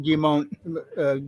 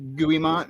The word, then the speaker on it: Guimont: used to call him gimon guimont or something well you said it right first it's gon yeah like McGee G and mo you don't pronounce the T so gimo that's the